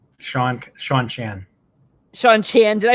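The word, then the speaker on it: Seanchan: You say it again because I said it Sean wrong. Chan. Sean Chan.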